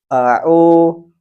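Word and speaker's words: أعوذ: Hamzah sering dibaca ain dan ain sering dibaca hamzah. Padahal keduanya jelas berbeda. Seperti contoh, au, ini adalah pengucapan yang benar. Yang salah adalah ain dibaca hamzah. Au, au, atau sebaliknya, hamzah dibaca ain.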